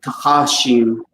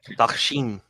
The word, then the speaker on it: tachashim: So it's with a long A, so it's tachashim. Tachashim. There you go. How's that? Yeah, tachashim. Tachashim. Try pronouncing that. Takshim. No, it's the upside down E is a sound. It's a kind of a soft sound, so it's kind of